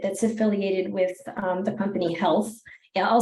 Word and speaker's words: HLTH: I'll start with Janna Guinen, who's the Executive Director of the Health Foundation.